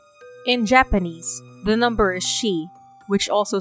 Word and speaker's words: shi: In Japanese, the number is shi, which also sounds like the word for death,